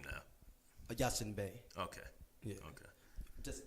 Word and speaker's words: Yasin Bey: Yasin Bey.